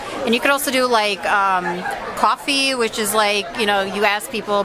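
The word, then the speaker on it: Ko-fi: And you could also do coffee, which is you ask people, buy me a coffee.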